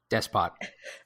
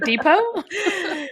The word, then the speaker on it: despot: downfall of the Divine despot despot oh I would I literally would have pronounced it the way you did like Depot uh but even with